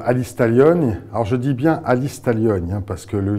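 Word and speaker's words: Alice Taglioni: on y retrouve alistalogne alors je dis bien alistalogne he parce que le G ça se prononce pas en cor ou en italien alors alistalogne on la retrouve elle est super belle elle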